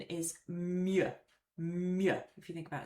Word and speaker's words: mieux: Okay, let's look at mieux now. So mieux means better and the best, just like meilleur does, but it's used in a very different way. So first of all, pronunciation is mieux.